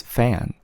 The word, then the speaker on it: 팬: Okay, pen sounds like a P sound, right? But then it's fan. If you're able to tell that in Korean, F and P is essentially the same pronunciation, then it's gonna make your life so much easier.